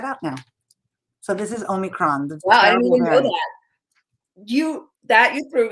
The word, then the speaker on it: omicron: asked my great colleague how to say it omicron that's right right now omicron is written as